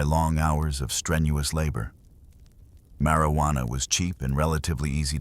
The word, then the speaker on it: marijuana: The term marijuana, often pronounced with a soft rolling R, was initially a descriptor for a specific preparation of the plant.